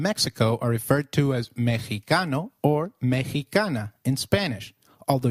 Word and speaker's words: Mexicano: While X is usually pronounced as X inflexible, it is pronounced as a throaty H in the words Mexico, Mexicano, and Oaxaca, which is a state in Mexico. So, can you try saying Mexicano? It is called Mexicano.